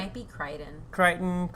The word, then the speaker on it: Crichton: And he's also apparently a big sci-fi thing, notable for It like might be Crichton. Crichton. It's Crichton. I was like, I don't know how to Yeah, pronounce it.